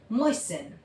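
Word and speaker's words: moisten: फैसिन लिसन, मोइसिन, Hasan. ठीक है? टी को हम साइलेंट रखेंगे।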